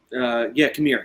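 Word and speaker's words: Qimir: How do you pronounce Manny Jacinto's name? Kamir? Kamir, yeah.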